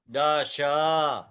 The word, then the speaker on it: दश: अष्ट, अष्ट, नव, दस, दश, एकदश, एकादश, एकादश, सुनो बेटा, एकादश, एकादश, त्रयोदश, त्रिकादश, त्रयोदश, त्रयोदश, त्रयोदश, चतुर्दश, पंचदश, हाँ दश, हाँ, ना ना, दश, श शंकर वाला श, दश, दश, विंशतिः, विंशतिः,